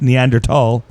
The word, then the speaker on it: Neanderthal: Actually, it's pronounced Neanderthal.